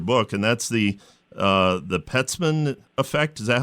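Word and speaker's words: Peltzman: I read your book and that's the the pet ceman effect is that how you pronounce yes right so he's an economist at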